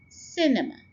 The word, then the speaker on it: cinema: First syllable के ऊपर हम स्ट्रेस डालेंगे and it will be cinema.